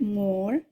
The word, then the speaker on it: more: more say the word more spell the word more write and check the word more remember moore has a silent e at the end c double e always